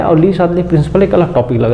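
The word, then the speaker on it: Le Chatelier: Principal ऐसा लिखा है, पर हिंदी में इसका नाम हो जाता है प्रोनाउंसिएशन वाइज इसको पढ़ते हैं ऐसा है, ली शातलिए का प्रिंसिपल, ली शातलिए का नियम या सिद्धांत। ये लीजिए, ये इसका हिंदी नाम है, ली शातलिए बोलते हैं। ली इसका जो प्रोनाउंसिएशन होता है वो शातलिए होता है, ठीक है।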